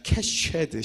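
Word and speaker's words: קשת: 캐세드 하면은 좀 발음이 괜찮은데 여이예요. 그래. 좀 세야 돼요. 쉐드. 자, 캐쉐드. 시작.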